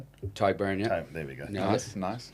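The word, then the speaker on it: Tadhg Beirne: in Chicago is it can I am I pronouncing it wrong? Tagburn. Tyburn.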